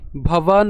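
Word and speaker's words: ভবান্: অশ্বথামা বিকর্ণশ্চ সৌমা দত্তিস তথৈব খেয়াল করি এখানে ভবান উচ্চারণ করেছি কেন কারণ হচ্ছে আমি এখানে দন্তান্যর নিচে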